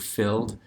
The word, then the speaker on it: filled: look at the top the word filled not not two syllables even though it has that IDI on the ending because it's not the fill and it's filled and so all of